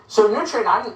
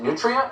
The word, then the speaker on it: nutria: So Nutria, I'm embarrassed. I'm not even sure I'm pronouncing it correctly. Is it Nutria or Nutria?